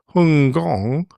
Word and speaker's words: Hong Kong: When we started flights to the Fragrant Harbour, as its name was when literally translated from the local pronunciation of Hong Kong as Hung Gong, the flight times were well over 15 hours, needing 2 additional pilots to take over in the cruise.